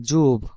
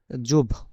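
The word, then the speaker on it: зуб: বাংলাতে যে ব আর ইংরেজিতে যে বি এইটার উচ্চারণ হচ্ছে বি এর মত জুব জুব মানে দাঁত জুব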